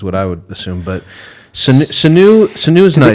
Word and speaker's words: Sanu: Sanu.